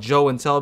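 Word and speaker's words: Joe N Tell: My channel is obviously called Joe and Tell because Joey doesn't really sound as good as Joe and Tell, so it rhymes with show and tell.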